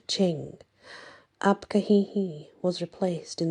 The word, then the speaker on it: Qing: Coinciding with the start of the Manchu rule over China in the 17th century, the Qing dynasty, pronounced Qing, Abka Hehe was replaced in the Manchu pantheon